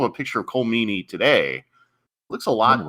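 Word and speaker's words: Meaney: I think it's pronounced Meany.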